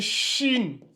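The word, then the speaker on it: شين: H comme ça là à la prononciation ça donne Chine Chine donc ça c'est sine et ça c'est Chine voyez-vous les trois points en haut vientent rajouter le H ça donne maintenant Chine alors que ici ça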